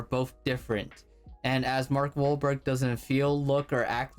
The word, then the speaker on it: Wahlberg: i i like mark wahlberg or whatever his name is mark i like yeah i can't do it how do you spell it i don't know it's like it's wahlberg not wall burger wahlberg i'm dead